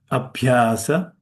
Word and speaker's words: abhyasa: Abhyasa with an S pirate B.